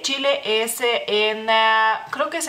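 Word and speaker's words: Čilė: masculino sigamos con chile aquí cambia la ch por otra letra que es el mismo sonido en lituano eh simplemente ch en lituano sí existe pero tiene otro sonido digamos así así que tenemos que cambiar esa combinación la combinación de esas dos letras por una letra propia lituana Por así decirlo y eh sería Chile Chile a la e como como pueden ver tiene un puntito Porque así es como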